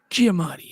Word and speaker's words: Giamatti: How do you say his last name? I think it's Giamatti. Giamatti, yeah, that's it.